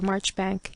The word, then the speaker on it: Marjoribanks: trifling or romantic suggestion Tom too could remember marchbank and his uncle's interest in it and the careful way in which he explained to the ignorant that this was the correct pronunciation of his own name while Lucilla made her